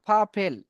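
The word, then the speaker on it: purple: paint in the full পার্পেল এখানে আমরা আর টাকে উচ্চারণ করিনি একটা নিয়ম আছে আমরা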